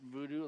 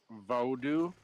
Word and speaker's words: Vodou: I always call it voodoo, like normal voodoo, but it's like Vodou. It's how it should be pronounced.